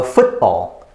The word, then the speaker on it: football: that's like okay oh so football football football so t is never heard football football alright so those are